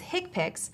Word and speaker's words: HCPCS: common procedure coding system HCPCS commonly pronounces hick picks are a set of